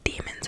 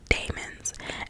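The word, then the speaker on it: daemon: wow and i know y'all like demons or demons it's spelled d-a-e-m-o-n so i'm saying like demons i don't know i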